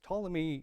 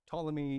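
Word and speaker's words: Ptolemy: Um the two main ones we're going to talk of today is Tommy Egypt. Starts with a P. I don't know why the P is silent. Uh Tommy Egypt in the south is one of them.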